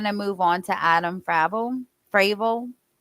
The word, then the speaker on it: Fravel: move on to Adam fraval fral I have a friend whose last name is spelled like that and they pronounce it Fravel so that's why I